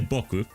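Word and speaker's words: 僕: But if you say Boku with the emphasis on the second syllable, it's like I on in a humble, neutral way that fits like maybe an academic person, for example.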